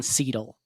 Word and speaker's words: Seidel: And I'm like, no, it's German. The first vowel does the walking. The second vowel does the talking. Oh, I like that. So the first vowel is silent in German.